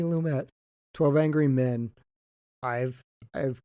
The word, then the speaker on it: Lumet: were on the episode i think it's cindy sidney lumay okay so not french sydney lumet 12 angry men i've